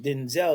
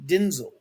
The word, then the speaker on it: Denzel: His name is not pronounced Denzel. His name is actually Denzel.